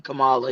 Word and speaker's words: Kamala: Kamala, but it's actually Kamala.